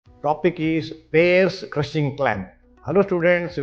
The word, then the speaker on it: Payr's: P-A-Y-R apostrophe S, but pronunciation is Payr's crushing clamp. Spelling is different, and it is used to in gastrectomy.